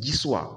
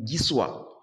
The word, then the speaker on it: Giswa: La prononciation, c'est Giswa. On dit Giswa.